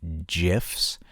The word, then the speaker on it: GIF: would like to argue gifs. But, um, I don't know. I've always pronounced my my G's with a G. You know, if someone likes other men, they're gay. So, GIF.